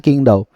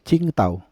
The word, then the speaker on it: Qingdao: kadang-kadang kan lafalnya beda misalnya King daw itu bacanya Ching tau jadi D itu ternyata kalau gua enggak salah koreksi kalau gua salah ya untuk teman-teman yang mungkin ngerti bahasa Mandarin d itu dibaca T T gitu Jadi cingta bukan bukan